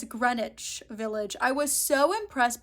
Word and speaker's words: Greenwich: are lovely but it's Greenwich Village I was so impressed by myself too because I did the research I was like okay don't pronounce the W it's silent but I was saying greenage this whole time so